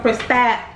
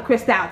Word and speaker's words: Cristal: It's just something about the Cristal to me. So it's pronounced crystal, but y'all know Cristal.